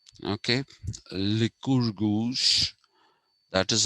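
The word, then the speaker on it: Lycurgus: created by the the pronunciation of that name is liquor goose okay liquor goose that is how it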